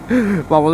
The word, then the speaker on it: পামল: তুই পামেল বানিয়ে দিলি আমার তো একচুয়াল প্রোনাউন্সিয়েশন পামল এবার সবাই তো আমাকে এইভাবেই পামেল হিসেবেই চিনে যাবে। তো এটাই ছিল পামল স্যারের অভিযোগ। তো সেটা আমি আজকে রেকটিফাই করে দিচ্ছি বন্ধুগণ। ইট ইজ নট পামেল।